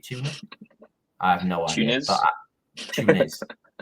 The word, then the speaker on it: Tunis: Because even a rotated side, as we talked about, should surely be Tuna. If that how you say it, Tuna. I have no idea. Tunis. There's an S on the end.